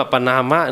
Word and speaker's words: ปณาม: ใจ นะ โอ เค เ อ่าน ผิด เ อ่าน แบบ ไทย แต่ ถ้า เ อ่าน ว่า ป นามะ เนี่ย ไอ้ คำ ว่า